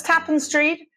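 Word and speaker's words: Tappan Street: We know it's Tapen Street because Randy called the police station on Tapen Street in Boston and asked them how they pronounce the name.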